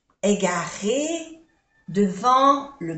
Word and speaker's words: garée: La voiture est garée, no se pronuncia esta E, garée devant le bâtiment.